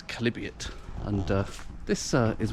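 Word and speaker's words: Chalybeate: the uh the calibute well notice it's not pronounced Charlie beat it's calibute and uh this uh is where the oh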